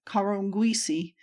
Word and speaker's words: Kalongosi: It gives off a river at its northwest called Lualaba, and receives the river Kalongosi, pronounced by the Arabs Karongwisi, on the end near its middle, and the rivers Luapula and Ravukwe at its southern extremity.